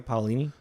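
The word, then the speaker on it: Paolini: L by Christopher Pini paulini there you go paulini paulini you're the one that read the books dude you should know how to pronounce his name why uh yes so uh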